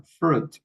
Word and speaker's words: fruit: En esa palabra la I no suena, fruit, fruit, no suena la I, ¿sí?